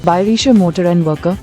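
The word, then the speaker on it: Bayerische Motoren Werke: क्योंकि एक German word है तो इसकी करेक्ट प्रोनाउंसिएशन कुछ ऐसी है, Bayerische Motor and Worker, ये है BMW का हेडक्वार्टर और इस बिल्डिंग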